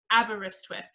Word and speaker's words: Aberystwyth: to say is um imagine the band abba and then wrist swift aberystwyth that's the easiest way to pronounce it we are a coastal